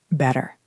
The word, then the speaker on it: better: If you stop to say the sharp t, it stops the air. Better. It feels choppy. But better keeps the air moving.